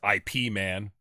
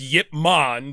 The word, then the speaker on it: Ip Man: Yip Man, or for our English speaking audience, IP Man. IP Man. IP Man. Martial arts. Yeah. It's actually pronounced Yip Man, but everybody in America, they don't say gyro, we say gyro.